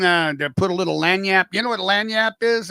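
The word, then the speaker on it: lagniappe: You do anything uh to put a little lanyap? You know what lanyap is? Anybody? If you ever see it, it's uh it's spelled L A G.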